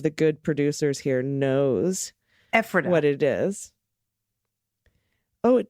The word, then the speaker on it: Ephrata: Is pronounced like Ephrata, phonetically. Emphasize on the front. Ephrata.